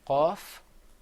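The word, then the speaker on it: قاف: So say qaf, Qaf. kaf. Kaf. Another difference is that the qaf is pronounced full-mouthed.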